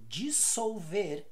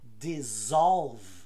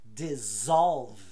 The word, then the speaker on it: dissolve: essa errada o verbo dissolver em inglês se fala dissolve com som de z dissolve e não dissolve vamos